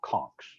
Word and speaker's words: conch: live there for a long time are called conchs that's what they call them i call it